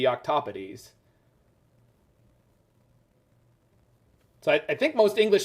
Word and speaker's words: octopodes: And if it is, in Latin, it should be octopodes. So I think most English speakers would say octopodes. Yeah, it is octopodes.